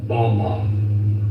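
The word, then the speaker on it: בָּמָה: which Satan fell is strong Hebrew word 1116 pronounced Bama Bama is most commonly used to refer to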